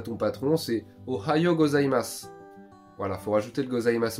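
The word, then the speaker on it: ございます: va dire aligato gosimas ça s'écrit gosimasu mais ça se dit gozaimas et c'est pour les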